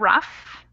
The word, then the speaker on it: rough: notes on pronunciation here these Oh ugh words are actually they sound like they're they end in an F so that's tough enough and rough and then this family